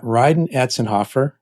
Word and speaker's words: Rhydon Atzenhoff: I've got Rydenhoffer and yes, that's the way you pronounce his name.